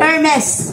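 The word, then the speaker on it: Hermès: hermes hermes Ernesto Ernesto hermes hermes Maeda Opo hermes baka ang pagbasa na naman nian ng hermes is hermes branded kasi yan silent h just to ano na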